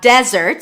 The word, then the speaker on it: desert: Okay, so again, we have desert, stress on the first syllable. Desert, that's the place. And then dessert, stress on the second syllable, is the verb to desert.